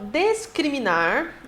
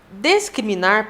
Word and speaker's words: discriminar: foi aceito tá bem vamos ao discriminar e descriminar que no final das contas a gente acaba pronunciando do mesmo jeito descriminar discriminar pessoal e nós temos